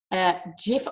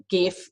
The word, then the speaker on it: GIF: with content number 5 Jif off which is pronounced jif, but I still say gif with a hard G and drive my husband